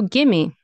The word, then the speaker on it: gimme: Like you won't pronounce it. You can, but in spoken English, we often don't. So gimme, gimme.